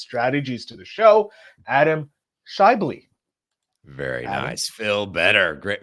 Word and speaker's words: Schaeuble: podcasting and business strategies to the show Adam shy very nice Phil better great man great job on the pronunciation I I know it's always an intense